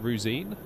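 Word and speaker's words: Ruzyně: Would I pronounce that Ruzine? That'd be correct pronunciation.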